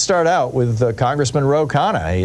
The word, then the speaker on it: Khanna: But let's start out with Congressman Ro Khanna.